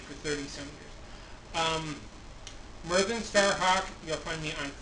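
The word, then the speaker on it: Myrddin: t a r h a w k it's pronounced mvin Starhawk the DZ is pronounced th well part of my uh name for the society for creative anacon um been using it for 30 some years um Merin Starhawk you'll find me on Facebook on Twitter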